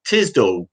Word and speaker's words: Tisdall: It's Tisdall. Tisdall?